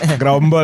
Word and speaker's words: Geromball: Gerombol aja. Jadi Grombol ya?